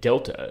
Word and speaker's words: delta: through the word gangon then we have Delta which we can remember how that is pronounced um through the English word decalog which is itself taken